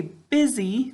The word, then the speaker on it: busy: Good, we say busy, but how do we say it when we spell it? Excellent, we say buzzy.